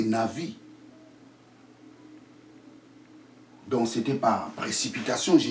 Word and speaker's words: navi: Je vous ai dit la vraie prononciation du prophète en hébreu, ce n'est pas Nabi, c'est Navi.